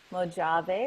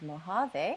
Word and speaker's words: Mojave: His name is actually Mojave, which is the American pronunciation of Mojave, which is where he was found in the Mojave Desert.